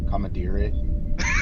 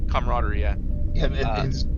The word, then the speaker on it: camaraderie: success of their joint efforts how would you pronounce that word commentary I was like how would you have said it but it's camaraderie it's missing an oh that's how you spell